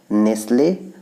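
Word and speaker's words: nestle: ऐसे हमें दो लेटर्स लिखने हैं, नेस्ले और नेस्ले के बाद यहाँ पे वशल। ठीक, ये दो वर्ड है, दोनों में टी क्या है, साइलेंट है।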